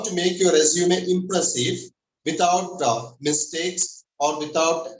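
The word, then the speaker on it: résumé: organization is a resume, and it's pronounced as resume. Resume is another English word. It's a verb meaning to restart an activity. Example, let's resume the class.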